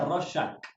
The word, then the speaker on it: Rorschach: Hasta en YouTube busqué cómo se pronuncia Rorschach. Rorschach, sí. Se escribe con CH al final y se pronuncia Rorschach.